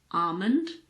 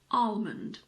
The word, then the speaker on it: almond: in the word Armond the L is optional I personally say almond so I don't pronounce the L but you can also say almond almond there aren't many